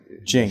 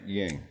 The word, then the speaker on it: JING: Is it JING or? JING. JING. Yeah, JING. Not YING.